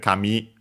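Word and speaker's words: 紙: We have seen before I think kami accent on the last syllable for paper or at least I mentioned it an accented hair uh well actually accented also on the last syllable.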